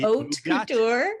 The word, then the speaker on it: haute couture: But here to adorn me in the haute couture of Star Trek, the haute couture. I looked at the pronunciation.